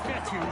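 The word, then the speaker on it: Fetu: and sack so coach fetthy spelled f-e-t-u for the longest time i was pronouncing it coach fetta like feta cheese so let's just say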